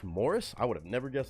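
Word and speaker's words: Maurice: is the oldest Rob morrice pronounced Mor oh Morris that's pronounced Morris I would have never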